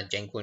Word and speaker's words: Django: तो तर डायरेक्ट दूसरी बनाले जैसे मैंने एक जंगो प नाम की डायरेक्टरी य परट की है